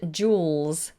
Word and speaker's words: jewels: Could you pronounce the word jewellery, jewellery, and jewels? Jewels. You have to get the L in there.